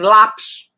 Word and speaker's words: lápis: Por exemplo, eu digo assim, lápis. Lápis. São 2 sílabas. Lápis. Lápis. A penúltima é a forte.